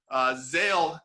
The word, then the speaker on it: Zale: Zale is how you pronounce it, Zale Clothing Line.